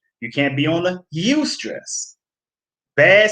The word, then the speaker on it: eustress: stress eu stress called you can pronounce it you stress okay youth stress is